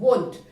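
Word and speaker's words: won't: वोंट, वोंट, ये जो उच्चारण है इस पे ध्यान देना है। वोंट, ये ट साउंड जो है ये आना चाहिए। वोंट, आई वोंट, यू वोंट। अब भी प्रैक्टिस करें, वोंट, ये साउंड आना चाहिए।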